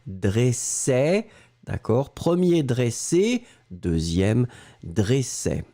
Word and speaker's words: dressait: ça encore une fois c'est le E qui est ouvert dressait d'accord premier dressé 2e